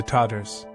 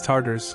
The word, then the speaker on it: Tatar: When medieval Europeans spoke in terror of the Tatar hordes, mispronouncing the name as Tartars, conflating it with Tartarus, the Greek hell, as if these warriors